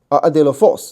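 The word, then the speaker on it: ἀδελφός: 好，第二个，adelphos， adelphos 这个重音在后面，adelphos 就是兄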